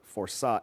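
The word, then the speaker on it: força: I go, "It's it's it's they spelled it for it's spelled said forsa. F o r ca."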